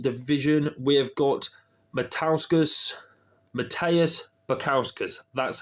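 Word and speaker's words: Modestas Bukauskas: the light heavyweight division we have got Matskus Matteus Picowskus that's how you pronounce it um that's how you pronounce his fighting in the light heavyweight division.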